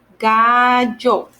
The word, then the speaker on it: gallo: itself, it's lo, but when you have two L's, it's yo. It's kind of a little similar to the Y sound in English. Okay, gallo.